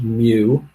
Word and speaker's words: mu: is Sigma Nu that's spelled mu and it's pronounced mu like a baby k cap okay so